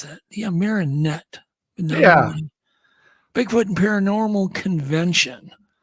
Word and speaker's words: Marinette: How do you pronounce that? Yeah, Marinette.